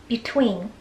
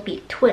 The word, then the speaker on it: between: 感觉，就是念得比较接近于那个短音的 e。但是请一定要记住，就是为了不把它念成 between，你的嘴角稍微咧一下。